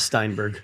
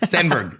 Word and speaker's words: Stenberg: I'm I'm I'm not the greatest and it's not Steinberg. Stenberg. Stenberg.